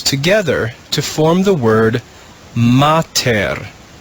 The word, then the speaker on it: mater: read this word together we put those syllables together to form the word mater now when we put the syllables back